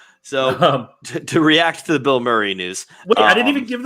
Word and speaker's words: Bill Murray: an ant-man in the wasp quan sylvania it's pronounced bill maher oh bill murray i think he said bill marry and i was like bill murray bill murray